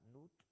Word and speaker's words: Nut: todos los escribas escribían el nombre de la diosa Nut, se pronunciaba Nut.